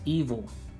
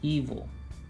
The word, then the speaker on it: Ivo: Ivo is spelled I-V-O, but it's pronounced evil. Yes, it is spelled Ivo, but it's meant to pronounce evil.